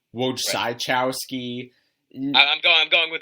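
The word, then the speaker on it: Wojciechowski: his last name yeah I've heard wowski wowski is correct but I've heard W chowski Wai chowski I'm going I'm going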